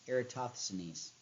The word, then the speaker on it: Eratosthenes: it to get it era toss the knees eratosthenes it's a weird word